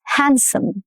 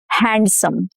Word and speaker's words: handsome: Handsome, not handsome. No duh. Handsome.